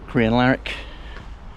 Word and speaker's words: Crianlarich: And there was a southbound and just 45 minutes back to Crianlarich at the start of where I'm going to start my walk.